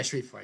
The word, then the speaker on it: Shreveport: And as far north as maybe areas of areas east of Shreveport, I think that's how you pronounce it. Yeah, Shreveport. Yeah, you got it right.